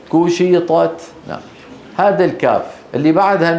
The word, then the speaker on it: كشطت: وتر قوق ها وتركوك واذا السماء كشطت كو وليس قشطت بسبب وجود الطاء قشطت لا كو كشطت نعم هذا الكاف اللي